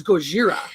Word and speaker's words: Gojira: It's Gojira.